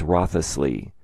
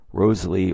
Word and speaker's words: Wriothesley: name is abbreviated w-r-i-o-t which is pronounced either wrought or wrote if the remaining letters of his name were included it would look like this and would be pronounced rothlessly or maybe Rosalie all right so beginning